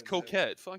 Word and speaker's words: Coquette: it looks better than the coke is that how you pronounce that yeah are you supposed to be what do you want to say it but you know yeah no it's coquette you